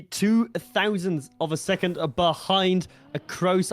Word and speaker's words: Acrose: of a second behind acoss I think it was or across I should rather say is that is the way to pronounce his name I'm not native I